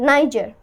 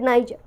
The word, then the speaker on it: Niger: of this word so in American you say Niger Niger but in British you say Niger Niger I want to